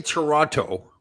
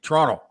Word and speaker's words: Toronto: say so I say Toronto but Canadians like the people from Toronto say Toronto like they don't pronounce the second t as much it's like Toronto yeah well and you